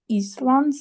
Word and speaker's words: island: The moment I set foot on the island that it was island. We don't pronounce this.